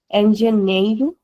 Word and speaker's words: engenheiro: Engenheiro, engenheira. This is how we pronounce it. Because we have an NH as well here. The sound is nya.